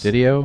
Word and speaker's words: Dido: Vince Dido did do I pronounce his last name right you did yes Dido Vincent Dido all right